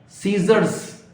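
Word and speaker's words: scissors: अगला है सीजर्स, S बोला जाएगा, C का उच्चारण नहीं बोला जाएगा, इसको ड्रॉप कर दिया जाएगा, इस लेटर को।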